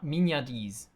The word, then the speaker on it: mignardise: The next one is, and I looked up how to pronounce this, mignardise.